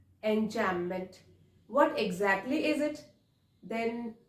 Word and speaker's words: enjambment: which is called enchantment B is silent over here so we will call it enchantment what exactly is it